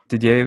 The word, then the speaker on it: Didier: Didier would be the pronunciation, I believe.